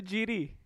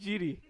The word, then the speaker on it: Giri: Then I have to call you Jiri. Anish Giri.